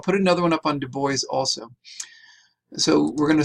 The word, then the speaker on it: Du Bois: name is not pronounced Dubois. I know many people, if you know any bit of French, you would think it's pronounced Dubois.